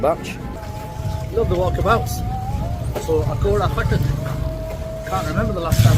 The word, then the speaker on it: Akora Khattak: I'm at the Akora Khattak, say it properly, Akora Khattak bus station, where buses will arrive from the direction of Peshawar, which is that way.